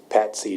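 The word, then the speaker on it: PATC: acronym what is that P A TC Tech so it's paty Tech um it's a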